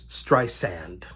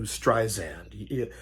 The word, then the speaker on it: Streisand: I know it's Streisand. I know that. But I always fall back to Streisand.